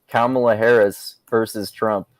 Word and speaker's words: Kamala: primaried um excuse me her name is pronounced kamala yeah she would still